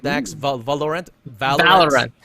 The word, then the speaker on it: Valorant: are going to discuss valorent as am i pronouncing it right dax valve valorent valve run valorent there you go valerian yeah i should know